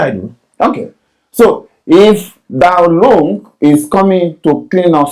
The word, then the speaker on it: Dalong: I understand the spelling is spelled D-A-L-O-N-G. If pronunciation is different from the spelling, it's Dalong.